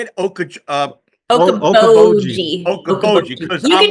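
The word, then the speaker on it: Okoboji: Okaboji.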